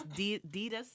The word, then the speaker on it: Desus: So take a look at, I always say his name wrong, but it's Desus, It's Desus, just like Desus like Jesus.